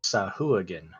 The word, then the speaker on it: Sahuagin: According to D&D Beyond, it's pronounced Sahuagin.